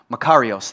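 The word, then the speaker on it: μακάριος: Makarios, that's like the pronunciation of it.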